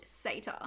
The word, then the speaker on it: Sator: the majority was interested in sata yes it's pronounced sata like others in the comments section i was